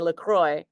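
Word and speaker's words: LaCroix: that and she's like laqua sweetie laqua because that's the designer Christian laqua and then they came out with lroy water because it's made in Michigan and even though Michigan is named after laqua in French it's Michigan so they say lroy um I guess that's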